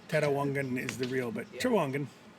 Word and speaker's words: Trawangan: Tiki Grove in Gili Trawangan. I don't know how to say it. How do you say it? Trawangan. Trawangan.